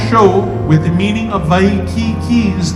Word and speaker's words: Waikiki: This is the reason why we begin our show with the meaning of Waikiki's name and its proper pronunciation. The emphasis on ki, the spurting fresh waters